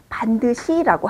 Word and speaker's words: 반듯이: 똑바로 서 있는 경우를 반드이라고 씁니다. 그리고 발음은 반드시라고 하죠.